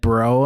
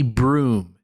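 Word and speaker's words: brougham: style it's spelled b-r-o-u-g-h-a-m I don't think anyone I knew ever pronounced it well but we maybe would have said bro um but apparently broom is actually the the standard pronunciation I don't know basically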